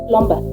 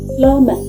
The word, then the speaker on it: plumber: One plumbat. Did you say plumbumber? No, it is not plumb. It is plumber.